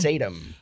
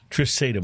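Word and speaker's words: Trisaetum: Well, when it comes to this Pinot, which is called, how do you pronounce the name? Trisatum. Trisatum.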